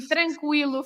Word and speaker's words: tranquilo: And tranquilo is an exception because many years ago, well, so it's last centuries, and well, not last century, 20th century, but before, we used to have trema, the umlaut, the German umlaut over the U.